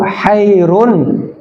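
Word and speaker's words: خير: Asalatu kohairun pakai ko. Iya. Sebab nanti kalau bacanya kurang jelas khnya sehingga seperti baca ha maknanya apa? Asalatu khairun khairon khairon minan naum. Salat itu membingungkan. Hairan itu artinya bingung.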